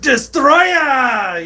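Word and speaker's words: Destoroyah: any five is correct so you got to be like destroya you know that's that's always just been a thing that's been the official pronunciation for uh people here in the states for a long time ever since ever since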